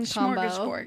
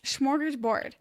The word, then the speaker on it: smorgasbord: Mm-hmm, Smorgasbord, if you will.